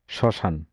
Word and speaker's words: শ্মশান: ম ফলা কখনো অ এর মতো উচ্চারিত হয়, যেমন শ্মশান।